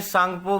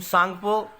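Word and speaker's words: Tsangpo: ब्रह्मपुत्र नदी को तिब्बत में सांगपो भी कहते हैं। टी is silent in this name. सांगपो इसका नाम है तिब्बत में और ब्रह्मपुत्र इस नदी का नाम है हमारे इंडिया में।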